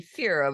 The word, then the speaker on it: Fira: Fine, so she would be Fira with a long E for the evening.